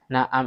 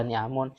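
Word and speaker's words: نعم: Nah, kalau dibaca ni'amun piro-piro nikmat. Maka bacanya na'am.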